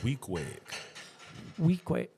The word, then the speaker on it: Weequahic: So Weequahic.